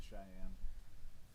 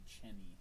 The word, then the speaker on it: Cheyenne: I've never been to Cheyenne. Every time I see it on the freeway, I think Cheney in my brain, because that's kind of how it's spelled.